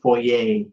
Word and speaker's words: foyer: spell that fo yeah foyer it's spelled f y r uh but it's a French uh word and it's pronounced fo because the French are